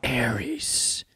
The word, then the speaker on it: Ares: And I believe, actually, I've been saying it wrong. You're supposed to call it Tron Ares. Ares.